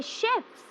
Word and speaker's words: chefs: plural it BEC sheves as in sh in shirt we say chefs so it is important